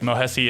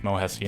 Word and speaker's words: Mohesi: Mohesi is currently, I believe it's pronounced Mohesi and not Mohes.